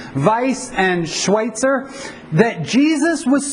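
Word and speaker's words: Weiss: German so the V the W is pronounced a V vice and Schweitzer that Jesus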